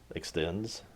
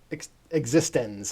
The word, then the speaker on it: eXistenZ: See also eXistenZ Yeah. or eXistenZ. No, eXistenZ. eXistenZ. That's how they pronounce it.